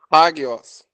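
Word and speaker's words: ἅγιος: Hagios. Isso, hagios. Observe que no início nós temos uma aspiração áspera. Aí eu vou colocar aqui na transliteração o H.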